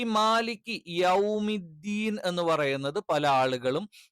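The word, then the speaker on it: مالك: അതുകൊണ്ട് തന്നെ മാലിക്കി എന്നുള്ളത് ഒരിക്കലും മാലിക്കി ആയി പോകരുത്, അഥവാ ചെരിഞ്ഞു പോകരുത്. മാ എന്ന് തന്നെ കറക്റ്റ് പറയണം. രണ്ടാമത്തേത്, ഞാൻ ഈ ആകാരവും ഇകാരവും ഉകാരവും ഒക്കെ പറഞ്ഞത് എന്തിനാന്ന് വെച്ചാൽ, ഈ മാലിക്ക് യൗമിദ്ദീൻ എന്ന് പറയുന്നത് പല ആളുകളും യോമിദ്ദീൻ അല്ലെങ്കിൽ യൗമിദ്ദീൻ എന്ന് പറയാറുണ്ട്.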